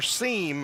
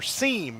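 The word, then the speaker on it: Seim: outside so Connor seem I've been pronouncing his name wrong it's it's s-e-i-m and so I was trying to get the pronunciation correct so thanks to the folks here that have corrected that so Connor seam is his name and he's been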